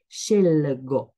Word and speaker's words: scelgo: Parfois, ils sont à l'envers. Donc, par exemple, à la première personne, on trouve scelgo, scelgo. La prononciation, c'est pas comme ça, mais c'est scelgo. Donc, vous l'entendez, vous l'entendez pas, mais c'est LG, pas GL.